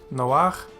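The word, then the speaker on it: נֹחַ: And it is pronounced noach, and it means Noah.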